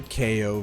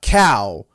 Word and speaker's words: Kao: also i gotta say this it's pronounced k-o not cow see the boxing gloves ko meaning ko as in knockout come on now no